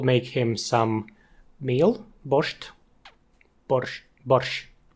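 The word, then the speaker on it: borshch: with a T and there's no T in Ukrainian borch. Yeah, we we Americans we Americans do love to say borched.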